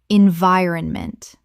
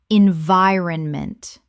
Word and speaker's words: environment: Environment correct pronunciation. Environment Four syllables with the stress on the second. The iron collapses to run in natural speech.